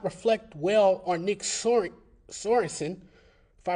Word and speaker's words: Sorensen: the game does not reflect well on Nick Sorensen, if I pronounced his name correctly. Sorensen, yes.